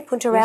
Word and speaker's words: Puntarelle: 2 heads of Puntarelle. Am I saying it correctly? Puntarelle? You're saying it perfectly.